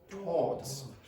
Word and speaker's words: towards: Now, some RP accents actually used to pronounce that with one syllable. Towards. The R disappeared completely, so you just get one very long vowel before the D.